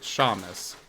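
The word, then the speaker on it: Seamus: is seus uh so it was sea M and so I was pronouncing it Shamus yeah that's Sheamus I see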